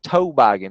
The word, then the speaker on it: toboggan: it that's a difference it's a different pronunciation is toe bogging it's not toboggan is what i would